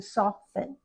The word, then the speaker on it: soften: By the way, we don't pronounce that T when we change it to soften.